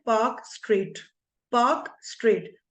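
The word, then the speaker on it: Palk: बोलते हैं पार्क straight पार्क straight P ए एल के okay एलस silent okay पार्क straight अच्छा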